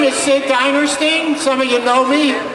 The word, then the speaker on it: Dinerstein: But for now, we've got Sid Dinerstein. Did I pronounce it correct?